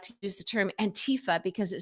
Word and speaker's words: Antifa: Uh, but Trump and MAGA like to use the term Antifa because it sounds exotic and scary and and it rhymes with Latifah, you know, we know what he thinks of that.